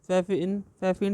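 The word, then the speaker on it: Pfaffian: Next आ जाइए, total differential equation are also known as फैफिन differential equation, P silent रहता है, फैफिन differential equation पढ़ते हैं, ठीक है।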